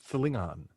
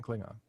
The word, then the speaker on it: Klingon: Kalish, and like they never say it right up until Discovery, and like but like Klingon is Thlingon. It's Thlingon. It's not Klingon.